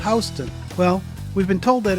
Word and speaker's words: Houston: In the U.S., everywhere except New York City calls this Houston. In New York City, there's a street spelled the same way, and they call it Houston.